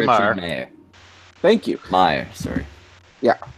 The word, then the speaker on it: Meyer: Started Richard C. Meyer. Meyer.